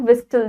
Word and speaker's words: whistle: Policeman keeps a लाठी, एक लाठी होती है उनके पास, और एक whistle होती है, that is CT, right? This is not whistle, this is whistle because T is silent over here.